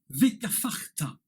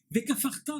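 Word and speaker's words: וְכָפַרְתָּ: le Dagesh au milieu, sans le Dagesh du milieu, il se prononce F et non pas P.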